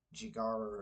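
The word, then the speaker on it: ゴジラ: We say Godzilla in English, but it's pronounced slightly different. It's Jigara or something like that in Japanese. But anyway, I watched the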